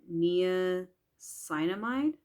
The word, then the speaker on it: niacinamide: It's the hyaluronic acid with avocado and niacinamide. That's how you pronounce it.